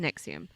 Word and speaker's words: NXIVM: It's NXIVM, but it's pronounced Nexium.